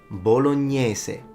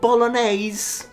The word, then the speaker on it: bolognese: And the sauce, bolognese. Not bolognese. Bolognese, depending on where you're from, both fine, but not bolognese.